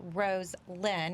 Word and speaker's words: Roselyn: and what she um her name is pronounced rose lynn which i love that